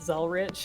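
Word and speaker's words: Zelretch: it yes i am i've always pronounced it's all church i didn't realize that it was zel rich until i saw i double checked it i was like oh it doesn't have a t there and i think it's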